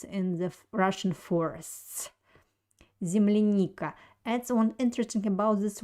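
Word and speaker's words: земляника: don't have an accent the accent falls on the third vowel in this word it's letter e so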